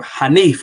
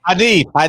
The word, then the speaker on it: Hanif: Rob G Film says Hanif rhymes with plaintiff. Yeah, my name Hanif though. Hanif.